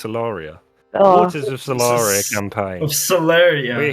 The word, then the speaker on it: Celaria: no i bought it i've never pronounced it celeria it's solaria waters of solari campaign